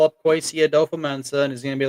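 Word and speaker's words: Kwesi Adofo-Mensah: Like I listen to podcast for podcast, and I hear him pronounce his name. So Kwesi Adolfo-Mensah.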